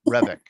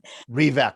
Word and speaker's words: Revak: I'm guessing you pronounce it Revik. It's Revak.